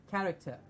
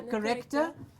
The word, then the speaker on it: character: A clear a sound, character. Character. Character. No, not a corrector, but a character.